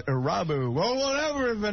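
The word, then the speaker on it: Irabu: Hideki Aruba. I think the proper pronunciation, Harry, is Arabu.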